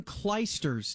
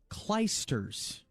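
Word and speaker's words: Clijsters: doing this it's Kim kers Dave Dave sorry I'm sick I don't she's Belgian and it's pronounce kers thought there was another T in there all right I guess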